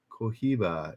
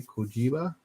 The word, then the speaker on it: Cohiba: Cohiba. It's pronounced. It was H pronounced like a J. Cohiba.